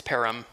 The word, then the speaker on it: Perham: It's Perham. Perham, got it. Just like Birmingham, Alabama. Birmingham. Yeah.